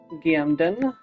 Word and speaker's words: Gambdin: Gamden. The B is silent, which is important to remember.